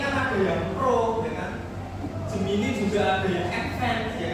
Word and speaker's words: Gemini: Biasanya kan bacanya Gemini gitu ya, tapi bahasanya itu ternyata pakai bahasa Inggris, Gemini.